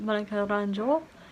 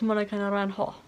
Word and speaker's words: Naranjo: It's not Monica Naranjo, it's Monica Naranjo.